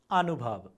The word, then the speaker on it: अनुभव: अनुभव, अनुभव। ख्याल गर्नुहोस् त, यहाँ लेख्य वर्ण व छ तर हामी ब उच्चारण गरिरहेका छौँ।